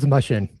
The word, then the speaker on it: Mushen: Yeah, it's Mushen. Mushen. But Greg any Mushen.